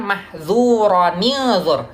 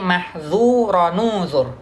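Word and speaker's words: مَحْظُورًا انْظُرْ: Mahzuran unzur. Nun sukun bertemu dengan hamzah wasal. Nah, lalu dibacanya bukan mahzuranizur ya, tapi mahzuranuzur ya.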